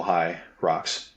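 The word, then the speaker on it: Hyrox: of you who are listening in i' um spell it out h y Rox not actual High rocks um the high rocks is a i' say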